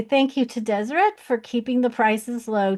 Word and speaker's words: Deseret: I've always pronounced it Deseret because I'm trained in French and the ET at the end is supposed to be pronounced A but it's actually Deseret.